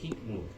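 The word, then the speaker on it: Highmore: Por eso te dije himmur, porque pues se pronuncia, pero muchos de mis compañeros no sabían inglés y así lo pronunciaban y está bien cada quien, ¿no?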